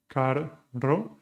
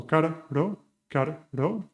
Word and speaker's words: carro: you are interested, which is to divide the sounds in two. So car, ro. Instead of trying to pronounce one hard R, one rolled R, you put two simple R's together. So car, ro. You separate them, and eventually you close that gap and make it faster and faster.